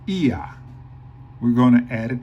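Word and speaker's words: ía: So we pronounce it ia.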